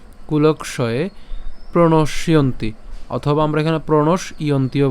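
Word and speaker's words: প্রণশ্যন্তি: কে নিয়ে গেলাম তাহলে কি দাঁড়ালো কুলক্ষয় কুলক্ষয়ে প্রণসীয়ন্তি অথবা আমরা এখানে প্রণস ইয়ন্তিও বলতে পারি ঠিক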